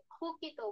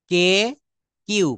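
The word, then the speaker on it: cook: কে কিউ কি বলেছি সি কে কিউ এই তিনটা লেটার বা বর্ণ যদি কোন ওয়ার্ডের প্রথমে থাকে তাহলে সেখানে আমরা ক না বলে খ বলবো সেখানে আমরা ক না বলে খ বলবো কুক বলবো না এটাকে বলবো খুক খুক হুম তারপর হুম হুম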